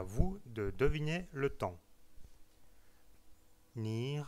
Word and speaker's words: 你: Le mot ni, donc c'est le ton qui descend et qui monte.